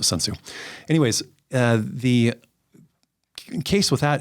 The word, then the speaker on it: Sun Tzu: And there's all kinds of people that argue how you pronounce his name, but I pronounce it Sun Tzu.